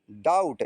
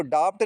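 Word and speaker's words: doubt: डाउट इसको डाफ्ट नहीं पढ़ेंगे। डाउट टी के पहले अगर बी आया है और एम के बाद अगर बी आया है तो बी का प्रोनाउंसिएशन नहीं होगा। बी साइलेंट होगा।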